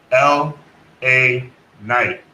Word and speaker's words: LA Knight: LA Knight.